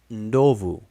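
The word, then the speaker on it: ndovu: form the form that is linked to is pronounced novu it is spelled n d o v u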